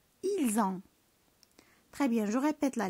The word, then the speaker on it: ils ont: ils ont حتى هي بنفس الطريقه كنقراوها ils ont.